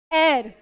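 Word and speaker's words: heir: This is pronounced as एयर।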